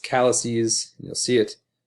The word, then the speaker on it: calyces: And then this word is actually pronounced calyces.